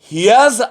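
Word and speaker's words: here's: ওকে, প্রদত্ত শব্দ হিয়ার ইজ কখনোই বলা যাবে না, বলতে হবে কথা বলার সময় হিয়াজ আ পেন, হিয়াজ।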